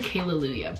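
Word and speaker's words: Kale-Lalu-yAHHH: kayla yahoo yeah kayla so it's actually kayla lulia but it's spelled like kayla and those two are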